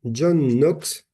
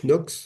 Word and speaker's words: Knox: très connu qui s'appelle John Knox, ou Knox, si on prononce le K, mais je ne crois pas, John Knox, qui est un disciple